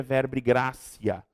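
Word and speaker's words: verbi gratia: aqui ó ó certo se escreve verb gratia se pronuncia verb grácia Professor o que que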